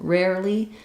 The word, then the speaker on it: rarely: r rarely rarely um be careful not to put any sound between this R and this l so not rarely but just rare rarely rarely if it's difficult